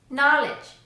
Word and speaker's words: knowledge: The letter K will always be silent in English when it comes before the letter N. Here are some examples. No, knock, knife, night, knowledge, knee.